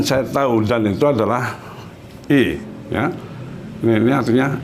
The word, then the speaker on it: y: Yo conozco a Ronaldo dan saya tahu, dan itu adalah I, ya. Ini artinya I, ya. Artinya dan, membacanya I. Kalau Y sendirian dibaca I, dan artinya dan. Dan saya tahu I, yo